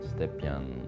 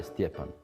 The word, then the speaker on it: Stjepan: Oh, you will not believe it, as my name is hard to pronounce everywhere in the world. Everyone calls me 'Stejpan', 'Stepjan' this, that, every possible variant. He was the FIRST, of foreigners, who came and said perfectly, 'Hi, Stjepan.'